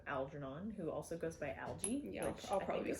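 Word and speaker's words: Algy: and i was like there's no way that's pronounced out yeah and then i listened to the audio performance of it and they just said algae okay i kind of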